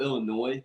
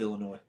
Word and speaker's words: Illinois: I thought you meant the state of Illinois. No, not the state of Illinois, but Do you pronounce the S in it? no, I've always been a silent S guy.